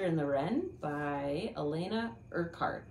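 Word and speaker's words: Urquhart: the ren by Elena art I think is how you say it I did look it up yeah um it's yeah it's urart it's kind of an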